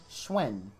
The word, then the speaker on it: Schwinn: It's pronounced Schwinn, by the way. Oh, is it? I didn't know that. Thank you for the correction. Schwinn. Like Schwing from Old Wayne's World thing right there.